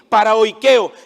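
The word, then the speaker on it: παροικέω: Hay otra palabra que se pronuncia así, paraoikeo, que significa habitar de manera temporal o como extranjero o peregrino.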